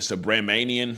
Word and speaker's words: Subramanian: So it says, dear Judge, I'm gonna say Judge S, because I don't know how to say that name, Subramanian, that's how you say it.